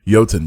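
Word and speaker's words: Joutun: think it's that sound it sounds like a y yeah yo-tan giants i'd probably pronounce it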